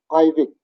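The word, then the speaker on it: aivik: One single walrus is Ivik.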